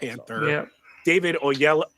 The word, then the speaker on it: Oyelowo: David Oyelowo. How do you say that last Oh, yellow. Oh, Yellow. Oyelowo as Doctor Strange, Keke Palmer as Scarlet Witch, and Jay Ellis as Vision.